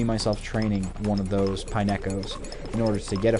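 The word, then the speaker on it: Pineco: to do on a Pineo which for the longest time I mispronounced and called pine cone like the as if the Pokemon company would have zero originality and just call something that looks like a pine cone exactly that a pine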